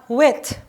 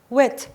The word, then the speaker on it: with: คำ บ้าง ดี กว่า อัน นี้ อ่าน ว่า with with อ้าว คราว นี้ เสียง